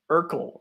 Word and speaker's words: urql: you think of next I think it's pronounced URL right like U urql I think they pronounce it URL uh I think it's